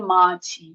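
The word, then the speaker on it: 맞이: Mat i nanti dibacanya ini kan jiget ketemu i diget. Ini diget dibaca j ketika ketemu I. jadi maci.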